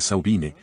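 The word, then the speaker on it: Samhain: no entraremos pero la víspera de saine la pronunciación gaélica de su fin de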